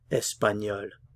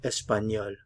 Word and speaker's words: espagnol: Spanish espanol Spanish espanol normally we don't pronounce consonants at the ends of the words but the L is an exception we will pronounce the L so espanol you hear the L espanol Spanish espanol Portuguese portug